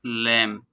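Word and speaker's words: lamb: The poor लैम, बेचारा भेड़ का बच्चा। लैम बी साइलेंट है यहाँ पर।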